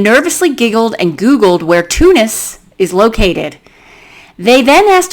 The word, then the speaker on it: Tunis: It's not like phonetically Tunis. It's Tunis.